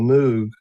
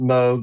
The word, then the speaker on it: Moog: I I was just about to move to Arizona to work for a company called Moog. Some people pronounce it Moog. Moog.